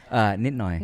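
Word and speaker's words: นิดหน่อย: Nitnoy. Ninoy.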